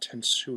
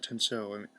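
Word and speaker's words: Tensou: And we have the equivalent of Data's Tenso, but it's pronounced Tensu instead of Tenso.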